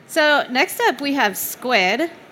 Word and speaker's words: Skuid: So next up, we have Skuid. Pronounce that right? Yes, that's correct. Great. Squid. Skuid. It's Skuid.